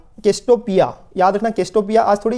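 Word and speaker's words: Cassiopeia: याद रखना केस्टोपिया। आज थोड़ी ये क्या वर्ड्स इनके ऐसे होते हैं ना जिनकी प्रोनाउंसिएशन में कभी कभी दिक्कत आ जाती है, मैं समझा देता हूँ। केस्टोपिया ए बोलते हैं इसको, ए रेमिनेंट ऑफ ए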